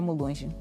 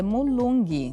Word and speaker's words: mulung: que é que significa munge mulung significa orientadora Olha já me pronunciei mal é mulung mulung exatamente orientadora e vendo quimbundo